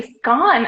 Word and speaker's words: scone: I think the British say scone. I read it that they say scone, but whatever. We call it scone in America.